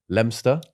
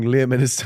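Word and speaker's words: Leominster: it again and it landed in lemster Le Minister we were pronouncing leam Minister for ages like basically the whole video it's written like that I know yeah um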